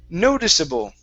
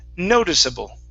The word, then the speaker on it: noticeable: word here is pronounced noticeable so our stress is actually at the very beginning instead of noticeable it's noticeable noticeable okay very good